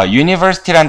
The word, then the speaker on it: university: 자, university란 단어에서 첫 번째 소리는 뭐예요? U 이렇게 되거든요. University 이렇게 돼요. 사운드가 university 그래가지고 강세 이렇게 하거든요.